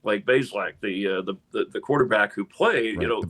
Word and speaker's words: Bazelak: And he said, "Well, they've been mispronouncing it for years. Bazelak, it's like 2 syllables."